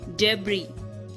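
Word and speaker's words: debris: S silent तब होता है जब एस के आगे आई होता है। ओके, वर्ड्स हैं आइलैंड, आयल, डेब्री एंड बोर्गुआ। इन सब में एस साइलेंट है, कंप्लीटली साइलेंट है।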